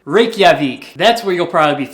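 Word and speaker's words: Reykjavík: likely be flying into a see if I pronounce this correctly Reykjavik was that right I feel like I was right Reykjavik that's where you'll probably be flying into Iceland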